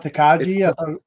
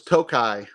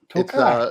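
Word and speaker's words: Tokaji: teai is amazing okay um so so it's pronounced it's not taji no it's toai toai it's a toai it's a hungar toai is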